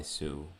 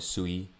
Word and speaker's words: Sui: Now this is the first perpetual trading powered by Su, right? And it's fast, secure, and low cost token trading powered by, again, the Su blockchain or the Sui blockchain, right? Depending on how you pronounce it.